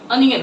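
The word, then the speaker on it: onion: कई लोग प्याज को इंग्लिश में ओनियन कहते हैं, तो इसको ओनियन नहीं कहेंगे, इसका सही प्रोनाउंसिएशन क्या होता है, अनियन होता है। इसलिए हम लोग आपसे जब भी हम लोग पढ़ना होगा ओनियन, ओनियन नहीं पढ़ेंगे, अनियन पढ़ना है उसे, ठीक है।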